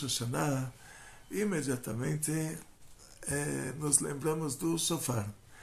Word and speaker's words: shofar: Então, tem um reish, shofar, tem um reish no final da palavra, você fala brr, o brasileiro não pronuncia esse reish. Então, brasileiro, no português é difícil pronunciar o... Fala shofar. Mas é shofar.